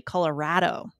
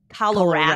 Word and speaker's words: Colorado: It's actually Colorado. Colorado.